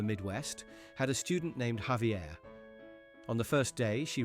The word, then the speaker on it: Javier: had a student named Javier. On the first day, she read the role and called him Jai Vair. He politely corrected her. It's Javier.